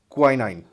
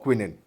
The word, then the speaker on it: quinine: is used to make quinine or quinine whichever uh you can pronounce it anyway a medicine that treats